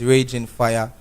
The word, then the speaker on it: Raging Fyah: and facebook/ ren fire fire is spelled FY a see so it's Raging Fire don't know for bookings